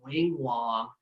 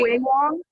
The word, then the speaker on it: Wing Wong: But Doc, I've known for a long time because, see, I used to own a wedding venue, and this dude named Wing Wong.